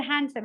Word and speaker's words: handsome: I would just say handsome say this word handsome h a n d s o m e